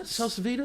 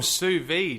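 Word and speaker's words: sous: cooking on what salv is that how you pronounce it salv SV s o u s v d e oh Su I thought it was Sal that is hilarious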